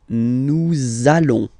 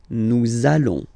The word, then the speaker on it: nous allons: link between the words, so it does mean that you will have to pronounce this z sound, okay, listen to me, nous allons, okay, nous allons, that's it.